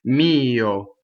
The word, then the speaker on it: mio: Going on, mio. So I always is e. It's a phonetic vowel in Italian, meaning it's always exactly the same. Mio. Okay, and this O is also closed.